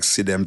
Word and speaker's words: Sidem: No, it's Chidem. No, Sidem. There used to be a girl in my school with about same spelling, and it's called Chidem. Her name is spelled Sidem. Sidem. Okay? I've researched it and I make sure me get the name right because my name won't come for the podcast and can call her name wrong.